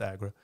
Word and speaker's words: Agora: It's spelled like Agora. I'm pretty sure it's pronounced Agra.